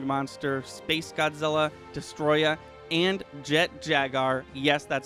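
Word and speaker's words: Jet Jaguar: hedorah the smog monster space godzilla destroyer and jet jagar yes that's how you're supposed to pronounce his name you can tell each character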